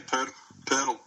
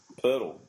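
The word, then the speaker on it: Poeltl: They say Pirtle. Pirtle. Really? Pirtle.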